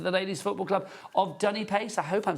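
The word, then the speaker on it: Dunipace: Dunny Pace.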